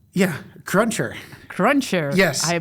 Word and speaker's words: Crunchr: market perfect bridge to talk about your company crunch HR yeah cruncher cruncher I pronounced it incorrectly well there's many ways you